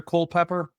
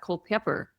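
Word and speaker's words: Culpeper: Uh what's not is it near Cole Pepper? Pretty Yeah, about an hour. Yeah, about an hour. Our our Google maps pronounces that. Co Pepper.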